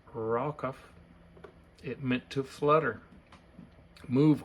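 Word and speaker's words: רחף: The original Hebrew word, rakaf, pronounced rakaf, it meant to flutter, move, or shake.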